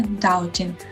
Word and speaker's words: doubting: Обратите внимание, что в последнем слове doubting буква B не произносится.